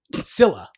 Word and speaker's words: Scylla: No, it doesn't say Cecilia. Oh, Scylla.